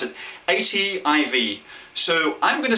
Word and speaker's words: ATIV: going to say that they had the word native because they want the same os to be native across all of these devices they drop the n and drop the e